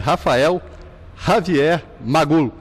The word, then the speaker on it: Rafael Javier Magul: O padre Rafael Javier Magul. Estou certo a pronúncia, padre?